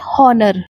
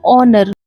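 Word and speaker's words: honor: अब इसे मैक्सिमम लोग बोलते हैं हॉनर जो कि गलत प्रोनाउंसिएशन होती है क्योंकि एच यहां पे साइलेंट होता है। तो करेक्ट प्रोनाउंसिएशन इसकी हो जाती है ऑनर और इसका मतलब होता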